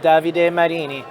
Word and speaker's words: Davide Marini: i'm happy to be joined this afternoon with davide marini uh from inkbit how are you doing today